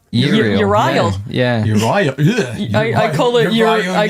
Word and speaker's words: Uriel: It's Iriel, isn't it? It's Uriel. Yeah, Uriel. it's not Uriel.